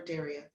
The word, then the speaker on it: Daria: you Cheryl and and Daria am I pronouncing your name correctly is it Daria or Daria it's Daria people who've known me